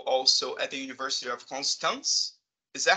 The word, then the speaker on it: Constance: a research fellow also at the University of constance is that how you say it no yes